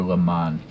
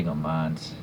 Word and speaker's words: Le Mans: le mans of 1971 or le mans i always say go mons my mispronounciation they're the wheels and